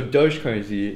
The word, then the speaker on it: Doge: yeah that's great man no it's so doge is the pronunciation okay yeah i mean i don't know that it's set in stone that's what i think the the developers call it but i mean it's